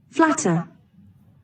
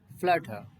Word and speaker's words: flatter: Verb आपकी कैसे pronounce करेंगे इसको, देखो, flatter, फ्लटर, फ्लैटर, फ्लैट, फ्लैट होता है बिल्कुल फ्लैट, और फ्लैटर, और टा पे रुक जाना, आर मत बोलना ब्रिटिश में, flatter, फ्लैटर।